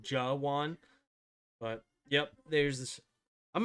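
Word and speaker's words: Jawaan: Jawan, there. I was close. I think I said Jew with the J-U instead of Jawan.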